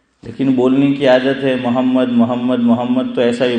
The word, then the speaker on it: محمد: یہاں ایک بات یاد رکھیے، بعض لوگ محمد محمد بولتے ہیں، ہم گجراتی لوگ خاص کر. یہ تلفظ غلط ہے، اور اس کا نقصان کیا ہوتا ہے؟